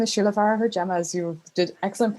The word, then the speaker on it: Farragher-Gemma: do sure so uh my name is Sheila far JMA as you did excellent pronunciation of that thank you so much I